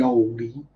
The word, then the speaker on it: olde: TH was, how you see ye olde. Well, the E isn't pronounced, so it's old.